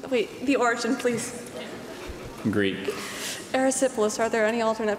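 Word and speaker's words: erysipelas: have the definition wait the origin please Greek aerosyphilis are there any alternate pronunciations aerosyphilis aerosyphilis aerosyphilis aerosyphilis e r y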